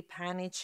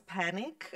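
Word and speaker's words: Panić: name is uh he pronounced my surname perfectly panage in my local language I'm originally from balans but in English it's quite uh uh hilarious because it's Panic uh and um friends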